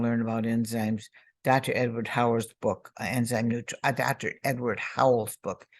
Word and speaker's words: Howell: Dr. Edward Howell? Say his name again. Howell.